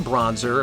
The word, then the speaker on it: Bronzor: Ambushed in the corner by the Bronzor. Or Bronzer, if you want to be very literal.